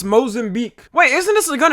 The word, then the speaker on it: Mozambique: I seen a bunch of fake ones like this 1923 Mozambique EAS. That is not how it's said. It's Mozambique.